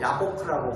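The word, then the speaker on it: יבק: 야곱이 씨름한 장소, 약복이라는 것, 약복강이라고 하는, 여기도 야보크라고 부릅니다. 그리고 씨름하다라는 히브리어가 아바크라는 단어입니다. 아바크라는. 이 세 가지 단어가 굉장히 발음이 유사합니다.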